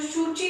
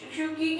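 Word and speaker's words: Suu Kyi: आंग सैन सू की, जो शूची के नाम से, शूकी के नाम से प्रोनाउंस होती थी, वो इलेक्शंस जीत जाती हैं।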